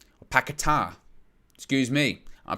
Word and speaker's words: Paquetá: Paqueta. Or Paquetá. Excuse me. Our pronunciation's important.